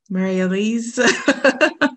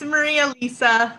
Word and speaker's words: Maria Lisa: maybe one more um mary mariellis don't want to get your name wrong yes it's maria lisa um but i usually